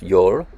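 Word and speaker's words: jól: also known as yule deriving from an old norse word which i think is pronounced you're and this was a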